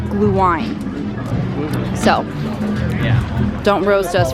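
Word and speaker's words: Glühwein: of the previous videos we were calling it gluing we have confirmed it is pronounced blue wine so yeah don't roast us for saying it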